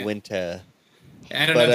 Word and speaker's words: Uinta: They said it's Uinta. Uinta? Uinta what?